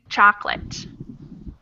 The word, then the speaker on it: chocolate: We do not say that middle O.